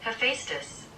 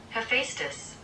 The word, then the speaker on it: Hephaestus: How do we pronounce his? Hephaestus. Hephaestus. Hephaestus.